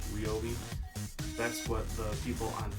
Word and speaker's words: Ryobi: So, this thing was part of Ryobi days this year, and even though I catch myself saying Ryobi sometimes, apparently it's pronounced Ryobi.